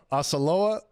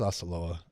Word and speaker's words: Osceola: Oskiloa Magic. Oh yeah, that's a tough one. That's a tough one. Osceola. Yo, you know what it is, Osceola.